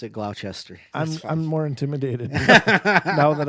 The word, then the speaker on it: Gloucester: go ahead and pronounce it Gloucester.